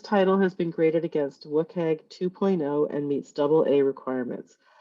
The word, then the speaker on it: WCAG: So like Web Content Accessibility Guidelines, also known as WCAG in accessibility circles. That's how we all pronounce it.